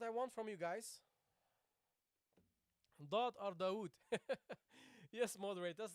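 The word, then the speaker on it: ض: Guys, when you pronounce this letter, barakallahu fikum, when you pronounce this letter, what you don't do, what you don't do is making your lips round, okay?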